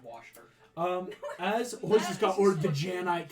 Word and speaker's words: Worcestershire: It's actually just pronounced Worcester.